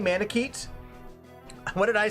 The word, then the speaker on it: Manakete: Manakete? What did I say? Manakete? I read it like Japanese. Manakete? Manakete would have been Japanese pronunciation, I think.